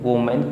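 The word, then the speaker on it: women: जबकि इसको जब हम पढ़ेंगे तो वुमेन पढ़ेंगे, और इसको जब हम पढ़ेंगे तो इसका प्रोनाउंसिएशन वीमेन होता है, यह भी आपको याद रखने की ज़रूरत है।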